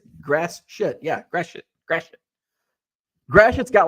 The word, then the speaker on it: Gratiot: I'm like, how in the hell do you pronounce this town? Gratiot? Gratiot. I'm like, what? Gratiot. I'm like, and she's like, yep, just like it sounds. Or just like I said, grass shit.